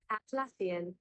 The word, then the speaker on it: Atlassian: It's pronounced as Atlassian.